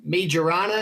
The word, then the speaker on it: Majorana: Microsoft says that Majorana, if I pronounce it correctly, too.